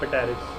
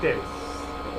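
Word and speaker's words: Pteris: तो ऐसे नहीं पढ़ना पेटेरिस, मैं पढ़ता था याद करने के लिए स्पेशल, ठीक है, बट the correct pronunciation is टेरिस।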